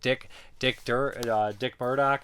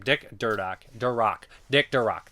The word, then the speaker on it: Durock: Dick Murdoch. I always mispronounce his name. Dick Durock.